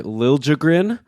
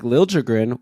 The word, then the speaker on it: Liljegren: By the way, thanks to Ryan Downey, who gave us that pronunciation, that apparently he wants a harder J sound when people say Liljegren.